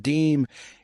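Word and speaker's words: disme: The first official 5-cent coin issued by the United States was a half dime, pronounced deem, in 1792.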